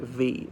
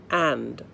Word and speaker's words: v: bird V Simmons 2002 you do not pronounce it V you'd say massing bird and Simmons 2002 I know it's confusing